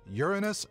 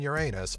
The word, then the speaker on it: Uranus: right from the start the dictionary say that both Uranus and Uranus are acceptable pronunciations of the planet Name by now hopefully